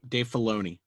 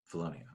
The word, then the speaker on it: Filoni: credit to roll on the screen is usually Dave Filoni, right? Yeah. Did I pronounce that correctly? Nope. Dave Filoni. Filoni.